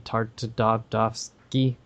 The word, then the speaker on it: Tartakovsky: and he worked on dexters lab with genndy tartakovsky whatever his last name is yep that's how